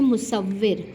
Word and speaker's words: مصور: کے بعد لفظ ہے مصور۔ مصور میں پہلا حرف مضموم، دوسرا مفتوح، تیسرا مشدد مکسور ہے، یعنی کہ تشدید ہے اور ساتھ میں زیر ہے۔ اب اس کو دیکھتے